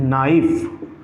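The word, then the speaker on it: knife: no this is no okay again के is silent here okay come to the next one this is व्ट this is ना नाइफ this is नाइफ this is व्ट this is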